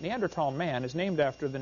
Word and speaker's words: Neanderthal: you don't know the neanderthal neanderthal the h is silent neanderthal man is named after